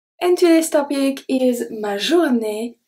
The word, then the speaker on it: journée: Journée ends with E-E. We are not going to pronounce the E at the end.